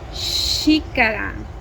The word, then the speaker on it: xícara: For example, when it starts a word, it sounds like sh, sh, as in xícara, xícara, which means a cup.